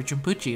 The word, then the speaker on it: Jumputi: i'm back with another jumpy heroes video where jabuchi is how it's actually pronounced uh today i'm gonna be summoning for